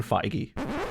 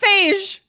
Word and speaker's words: Feige: seems like uh there's kevin feige who is the guy in charge nope kevin feige what i can correct you for once paris i can finally correct you feige it is kevin feige how is that not phage it's listen i've seen